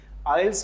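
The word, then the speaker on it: IELTS: को यल्स का लेकिन लोग मिस प्रोनाउंस करते हैं like I ई एल टी एस एंड टी मूट आल्स आल्स आल्स हैय टी जो है वो प्रोनाउंस नहीं करना इसमें ये म्यूट है और एक्चुअली इसके सेंटर्स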